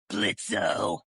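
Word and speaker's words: Blitzø: Blitzo. The O is silent now, 2 mountain.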